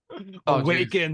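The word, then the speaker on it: Awakn: trips psychedelics incorporated or awaken but spelled like capital A w-a-k-n awaken Life Sciences Incorporated so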